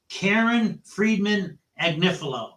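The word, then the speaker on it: Karen Friedman Agnifilo: picture of your mind her name is pronounced Karen fredman annif now how do I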